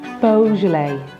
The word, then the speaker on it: Beaujolais: Beaujolais. Beaujolais. And as the French say, Beaujolais. Bordeaux. The X is silent in Bordeaux, and EAU is pronounced O, so it's Bordeaux.